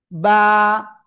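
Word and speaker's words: ب: দুই ঠোটের ভিজা অংশ থেকে এক আলিফটা নিয়ে উচ্চারণ করতে হবে। বা বা এক আলিফ টান দুই ঠোটের ভিজা অংশ থেকে আমরা এক আলিফ টেনে পড়ব।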